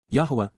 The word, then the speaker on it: Yahweh: applies to all of us including God himself Yahweh Yahweh the proper pronunciation of the name of eloah God as